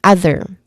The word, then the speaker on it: other: So here it started with a relaxed vowel sound. Again, that's a relaxed vowel sound. And then it is then followed with another syllable that starts with a voiced th sound there. So there's a short e vowel sound. Here it starts with a voiced th sound. So you try to combine those two syllables, the relaxed vowel sound in the beginning and the second syllable there.